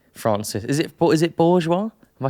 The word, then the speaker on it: Bourgeois: Is it Bourgeois?